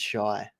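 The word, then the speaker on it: Shai: they actually ask him how to say his name, and he says it's Shy.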